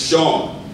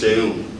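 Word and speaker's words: Seun: You see, my name is spelled S-E-U-N, right? Everybody automatically thinks it's Sean, but it's actually pronounced Sheun, right?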